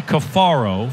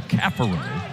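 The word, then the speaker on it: Caffaro: So you got Caparo, and it used to be Cafaro. Francisco has, the pronunciation has been updated, if you will.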